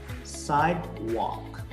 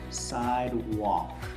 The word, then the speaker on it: sidewalk: Sidewalk. Listen carefully. Sidewalk. It's not sidewalk. It's not walk. There is no L here.